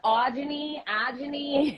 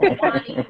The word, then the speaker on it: Ajani: I versus saying Ajani or Yeah. Awani. So I'm gonna go with Ajani, whatever you want to call me, but just don't say no Awani, whatever.